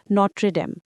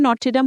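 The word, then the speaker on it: Notre-Dame: মাত্রই দেখে এসেছে প্যারিসে অবস্থিত বিশ্ববিখ্যাত গির্জা বা ক্যাথিড্রাল নট্রে-ডেম। প্যারিসের ভাষায় নট্রে-ডেম হলেও বাংলাদেশ এটাকে নটর-ডেম উচ্চারণ করা হয়।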